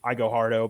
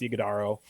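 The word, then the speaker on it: Iguodala: 13 from, I always want to call him Igo Hardo, but it's Iguodaro. I promise you, Joe, every time I saw his name before I heard it pronounced, I thought it was Igo Hardo.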